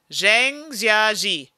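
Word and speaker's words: Zhangjiajie: coming out okay i'm going to try and pronounce this zhang jiaji zhang i think i said that right if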